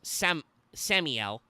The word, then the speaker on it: Samiel: The Black Huntsman is Samiel, not Sam Yeah, but Samiel. Sam-E-L.